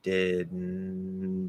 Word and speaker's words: didn't: it right up and when you close it like that you want to close it quickly that's going to create a little burst of air through the nose and then the rest is just the end didn't didn't and then you stop it with the t didn't didn't didn't didn't didn't didn't it all happens very quickly so that's one thing that can happen where you're technically dropping the d uh you can say